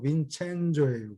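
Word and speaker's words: Vincenzo: 빈센조가 아니고 빈첸조예요. 빈첸조.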